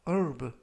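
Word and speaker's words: herb: 라고 발음 하시면 되겠구요 이 때 유의하실 점은 앞부분에 있는 알파벳 h 가 이번 단어 에서는 묵음 이라서 바람이 되지 않습니다 그래서 프루프 가 아니라 어루 품사는 명사 뜻은 약초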